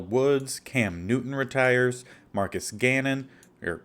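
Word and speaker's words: Cannon: Jerry Hughes Al Woods Cam Newton retires Marcus Gannon or Canon not Gannon Lane Taylor Blaine Gabbert Malcolm Butler Matt Barkley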